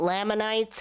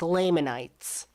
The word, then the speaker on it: Lamanites: It's not Lamanites, it's Lamanites. Some of her pronunciation on